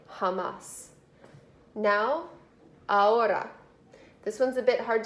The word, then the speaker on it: ahora: Now, ahora. This one's a bit hard to figure out if you aren't used to Spanish words. This H is silent, so it's ahora.